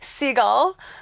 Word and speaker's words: Siegel: Is it Seagull?